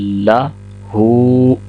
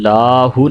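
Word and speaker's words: لَهُ: ہوگا وَلَمْ یَکُن لَہُ۔ لام کو لمبا نہیں کریں گے، کل لاہو نہیں کہیں گے، لام کے اوپر زبر ہے تو 1 سیکنڈ اس کو پڑھیں گے، اور ہا کے اوپر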